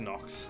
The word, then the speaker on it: Nyx: Actually, it's spelled NYX, but it's actually pronounced Nox.